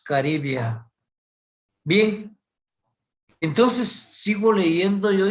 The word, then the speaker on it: caribaea: si como pronuncio yo yo no digo caribaea sino que espinos caribia bien entonces sigo leyendo